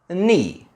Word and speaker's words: knee: Words like know, knowledge, knee, knife. In these words, we don't say the 'k' and we only say the 'n'.